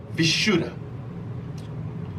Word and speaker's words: Vishuddha: be the throat chakra the sanskrit word is pronounced vishuddha the color associated with this chakra is going